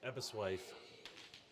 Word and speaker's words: Aberystwyth: Pronounce it. Aberystwyth. There's a Y there. Aberystwyth.